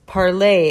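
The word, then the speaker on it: Parler: give them their Homeland there's a little bit of a discrepancy about how you pronounce it and and I looked into it and the way it's the way it's spelled is p a r l e r which is parlay it's a French word and it means to speak and so that's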